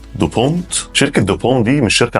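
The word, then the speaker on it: DuPont: ثانيه شركه دوبون هي اسمها كده بالانجليزي تتنطق اعتقد دوبونت شركه دوبون دي مش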